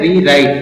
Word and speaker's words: rewrite: पर साइलेंट है, और आर से बनता है वापस र, और आई से यहां पर बनता है आई। तो आई के लिए यहां पर आ की मात्रा इसमें जोड़ देते हैं और ई लिख देते हैं, तो ये हो गया आई। और टी से बनता है ट, और ई फिर यहां साइलेंट है, तो इसको पढ़ते हैं रीराइट।